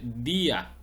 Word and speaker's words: día: un yato por ejemplo la palabra día es una palabra grave sí es di a termina en vocal pero el acento la tilde la fuerza la sílaba tónica está en la letra i por lo tanto se dice día Aquí se rompe el